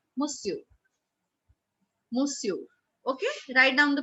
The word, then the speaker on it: monsieur: Something like monsieur, right? But how do we pronounce it in French? We call it monsieur, monsieur, monsieur.